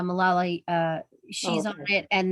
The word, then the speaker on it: Malala: women i think mala i always say her name malala no uh malala uh she's on it